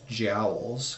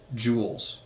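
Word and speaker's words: joules: in physics class because I mispronounced this as jowls because that was how it's spelled but it is in fact Jewels so this is different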